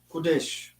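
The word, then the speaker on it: חודש: In other words, we call this Kodesh. Yeah. Kodesh. That's how it's pronounced.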